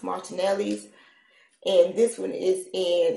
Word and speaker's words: Martinelli's: name on but I take your time it's pronounced Martinelli's and this one is in its sparkling cider